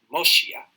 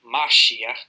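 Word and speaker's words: משיח: And this will be pronounced Moshiach instead of Mashiach in other dialects of Hebrew.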